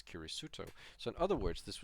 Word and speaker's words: キリスト: is a plus, and Christian being pronounced as Kirisuto.